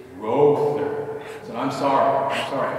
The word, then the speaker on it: Rother: last name and she said oh monsignor it's rother so i'm sorry i'm sorry i don't pronounce it but so i've tried to get